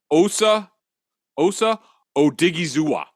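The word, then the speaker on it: Osa Odighizuwa: Osa Odigizua. Oh yeah, Odigizua. Odigizua.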